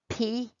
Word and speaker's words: play: P-L-A-Y, play. When you say play, you hear the P, and A, and the Y is silent. You do not hear the Y.